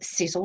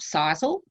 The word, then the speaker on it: Sisel: It is pronounced Sisel, not Sisel.